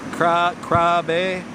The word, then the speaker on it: Krabi: Krabi. It's pronounced a little bit differently.